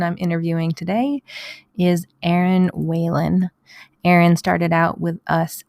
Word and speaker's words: Whelan: Hello, I am here with Erin Whelan. Did I say it right? You did. That's very good. I know the H has to be sounded there.